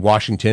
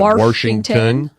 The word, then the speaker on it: Washington: Mary points out that some people stick an r in Washington and make it Washington no but I you